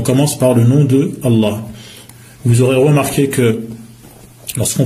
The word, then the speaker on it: Allah: Rahim et on commence par le nom de Allah vous aurez remarqué que lorsqu'on prononce on dit Allah en emphatisant le LEM